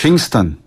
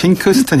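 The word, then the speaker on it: Pinkston: 핑스턴. 네. 예, 발음을 제대로 하셔야죠. 핑스턴. 아메리칸 스타일로. 저는 한국 스타일. 코리안 스타일로 했습니다. 예, 핑크스턴 이러면 안 되고요. 핑스턴.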